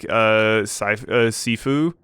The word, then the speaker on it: Shifu: they're not sure, but it might be pronounced like Sifu and stuff like that. That probably is the case. I'm going with the pronunciation that the game gives, and it says Shifu. But that one game that came out, Sifu, they pronounced it Sifu in that game. This game says Shifu. Hong weirdly says, like, Shurfu.